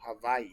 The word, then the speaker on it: Hawaii: W is the actual pronounced with a V. So Hawaii.